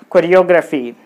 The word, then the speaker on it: choreography: So, C-H-O, co, R-E, re, yo, gra, phi, choreography. So, 1, 2, 3, 4, 5 syllables are there. So, we need to put the stress on the third syllable from the end. So, 1, 2, O. This is the third syllable. So, you put the stress mark on O. So, it will be choreography. Choreography.